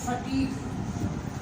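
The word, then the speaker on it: fatigue: For example आपने एक word लिखा टंग, for example फटीग, इट्स an English word, English का एक वर्ड है, ठीक है।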